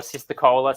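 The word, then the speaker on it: cisticola: little bird called the golden headed cysticular or sister cola some people pronounce it and that was actually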